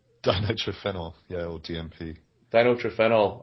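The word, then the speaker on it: dinitrophenol: do you want to do like a real pronunciation that Ben D din triphenol yeah or DMP din trenel or DMP thanks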